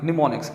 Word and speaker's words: mnemonics: हाँ जी, निमोनिक्स, इसको ना आपने एम को जो है वो साइलेंट कर देना है, इसको हम बिल्कुल नहीं पढ़ेंगे, इसको हमने छोड़ देना है। एन से हम जो है बेटे इसकी प्रोनाउंसिएशन लेंगे।